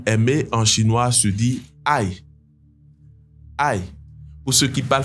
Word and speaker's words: 爱: dernier détail c'est que ici le mot a est au 4e ton donc c'est vrai que ça se prononce de la même manière que ce mot a en français mais vous devez vraiment faire attention et garder le fait que le chinois est une langue tonale à l'esprit donc le mot a